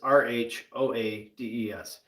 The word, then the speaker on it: Rhoades: So obviously our last name is Rhoades, but it's Rhoades. So just pronounced the same way.